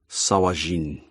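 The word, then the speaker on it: Sahuagin: So anytime anybody says the word Sahagwin on the show. Oh, yes. This is a dwarven translation of an Elvish word. So it is pronounced Sawajin.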